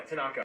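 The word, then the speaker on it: thanaka: You forgot to mention that Tanaka, am I pronouncing that right? Yeah, Tanaka.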